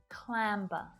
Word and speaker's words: clamber: Listen carefully to hear the B sound as I say these words. amber, clamber, slumber.